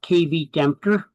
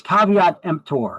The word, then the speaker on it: caveat emptor: It is not pronounced kvmper. It's it's caveat emptor means let the buyer beware.